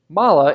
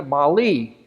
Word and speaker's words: MAHLE: I found out that mala is a German name it's spelled mah le and Germans tend to favor the mala pronunciation well Americans tend to like the Molly which is what I